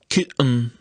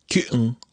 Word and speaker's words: kitten: we want to use glottal stop in the pronunciation of this word we should say kitten kitten this is the usage of close to the